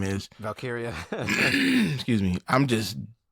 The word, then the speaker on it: Valkyria: But right now, I'm not feeling Lyra Valkyrie, whatever how you pronounce her name is. Valkyria.